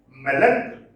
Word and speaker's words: melancholy: Then melancholy. Stress is on the first syllable. Melancholy.